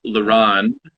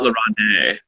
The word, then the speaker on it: La Ronde: And for those just joining us, it is pronounced Laron, not Laurent.